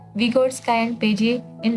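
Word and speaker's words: Piaget: अब देखो जीन पेजे था ना, ये पेजे है, पैगट नहीं है, ठीक है, इसको सही प्रोनाउंस करना।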